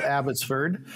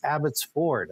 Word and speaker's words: Abbotsford: you're pronouncing that wrong it's not abbotsford which is what i've used for my 68 years that i've or most of 68 years it's abbott's ford i says okay i'll